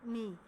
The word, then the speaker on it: knee: घुटने का cover, KNEE नी। इसको K के साथ लिखते हैं लेकिन K साइलेंट है, इसको बोलते हैं नी, नी कैप, नी कैप, घुटने का ऊपरी हिस्सा।